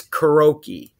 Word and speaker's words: karaoke: the world pronounces wrong, everyone else says karaoke. You cannot show me where there's an E between the R and the O. It's karaoke. K-A-R-A-O-K-E. Karaoke. Not karaoke.